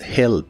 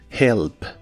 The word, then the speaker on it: help: El verbo ayudar en el presente de inglés es help. La H se pronuncia como una J suave. Help.